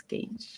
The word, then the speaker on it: gauge: would be gauge again I always said gge but it's gauge it's it's very it's